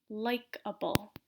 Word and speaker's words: likable: Just like before, the stress is going to be at the beginning of the word. So remember to pronounce this longer, louder, clearer. So capable, durable, likable.